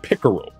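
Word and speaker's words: PICERL: that process you're giving a certain acronym it's pronounced pickerel and it stands for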